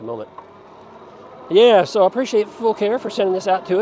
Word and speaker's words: Fucare: of you pronounce it Fu care because it spelled Fu C A but the company assured me that they want it pronounced full care as in they were full of care that's all the same